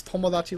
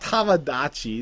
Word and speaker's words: Tomodachi: in the tree house don't mispronounce tomodachi life it's pomo not tamadachi this is not a tamagotchi game so anyways tomodachi and